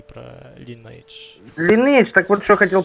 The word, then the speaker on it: Lineage: не просто легендарная, она в народе говорят, легендарная линейка, а правильно произносить, Lineage, да?